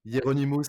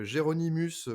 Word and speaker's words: Hieronymus: Donc, Géronymus, pour ceux qui veulent, la version originale, c'est Hieronymus, voilà.